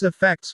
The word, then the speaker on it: affect: The stress is on the second part.